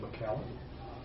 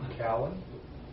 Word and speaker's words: McCowan: Two names that have been suggested as potential replacements are Renee McCallum Renee who? McCowan.